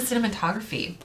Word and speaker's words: cinematography: It's like cinnamon, like a spice. Cinematography. Cinematography.